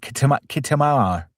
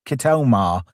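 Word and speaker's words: Khitomer: Well, Sam actually pronounced Kitr wrong. She said Kit Kamar. Kitomar. That was it.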